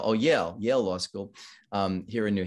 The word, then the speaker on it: Yale: I think it rhymes with fail. Oh, Yale Law School here in New Haven, and has been in New Haven ever since.